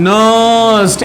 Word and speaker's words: Nernst: नर्स्ट equation, नर्स्ट N silent है, नर्स्ट equation.